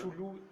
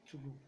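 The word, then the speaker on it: Cthulhu: de Lovecraft es el llamado de Chulú. Chulú, En Nadie sabe, verdad, se supone que dicen que hay un audio donde Lovecraft dice, bueno, hace la la pronunciación pronunciación. correcta. Tulu.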